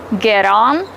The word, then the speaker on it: get on: Get on, get off. The letter T is between two vowels. We pronounce it as a fast D.